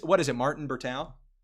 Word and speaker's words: Bertao: Martin Bertau. Yeah, Martin Berteo last name.